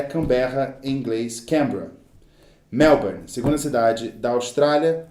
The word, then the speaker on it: Canberra: Capital da Austrália é Canberra, em inglês Canberra.